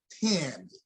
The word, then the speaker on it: Tammy: It's not Tammy, it's Tammy.